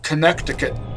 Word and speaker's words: Connecticut: at New Haven Connecticut why is a spell Connecticut nobody pronounces it that way everyone says Connecticut human languages are so